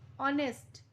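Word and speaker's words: honest: sound निकल रहा है एच साइलेंट है साउंड निकल रहा है ओ का ऑनेस्ट आर इसलिए एच रहने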